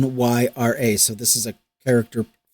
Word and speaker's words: Rhaenyra: No, it's Rhaenyra.